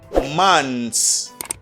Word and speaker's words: months: Okay, you don't pronounce the TH sound. You just say months.